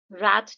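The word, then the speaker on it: wrath: रैथ को जो है जो अमेरिकन इंग्लिश है उसमें रैथ और जो ब्रिट इंग्लिश है उसमें रथ कहा जाता है। मैं जनरली रैट प्रोनाउंस करती हूं। डब्ल्यू साइलेंट होता है।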